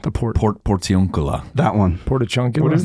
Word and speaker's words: Portiuncula: Portachuncula. Portachuca. What is it called? The port. Portiuncula. That one. Portachuncula. What is No, this? not chunk. Their chunk is not in the name.